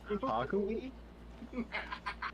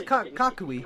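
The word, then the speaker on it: Kukui: Hakui? Papa who? You sound old. Thank you? Wait, how you just pronounce Kakui's name? That was Kakui.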